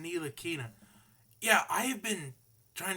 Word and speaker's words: Ntilikina: It's pronounced Ntilikina.